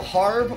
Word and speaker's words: Harb: guys gives you a harb so you can harb up. I'm not mispronouncing harb. That's how they spell it. H-A-R-B. It's not a herb because there's an H in it.